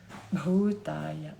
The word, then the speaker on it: bhūtāya: Bhūtāya. You have a little puff here. Ba, ba, ba, ba. And then you have a long U and a long A.